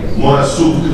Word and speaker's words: Morassut: Ci sarà con lui Lorenzo, aiutami a ricordare la pronuncia esatta, Morassut si pronuncia, Morassut, che ha fatto l'unica